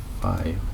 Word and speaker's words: phi: Or you can say the other way you can say V1 lags V2 by phi or fee, however you want to pronounce that.